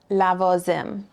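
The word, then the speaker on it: لوازم: So if we look at lavazim, supplies, well, we see that before the vav, we have an a sound, right? La, a. So that's our vowel sound. And it's also the beginning of a syllable.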